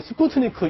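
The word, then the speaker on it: Спутник: 이제 그 미국식으로 읽으면 이제 스푸트닉이라고 읽지만 또 러시아어로는 이제 스푸트니크 1호라고 할 수 있겠는데요.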